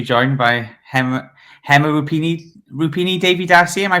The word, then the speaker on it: Rupini: Rupini Davy Dari. Am I pronouncing that right? Yes. Hear Rupini.